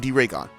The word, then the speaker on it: D-Ragon: I mean, D-Ragon. I've been saying it wrong. It's D-Ragon.